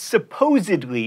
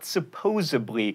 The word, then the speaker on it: supposedly: with mos def and it's supposedly not supposably and especially not expecially